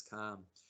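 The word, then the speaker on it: kama: senses that's called calm the Sanskrit word for that is calm k-a-m-a um long long a then a short a Karma so so that's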